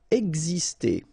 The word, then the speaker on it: exister: Exister. Okay, so it's really this X here, it's pronounced like gz, gz, ex, exister.